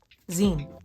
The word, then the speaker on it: zine: How do you pronounce Zine? Okay. Zine. Okay. Magazine. Makes sense.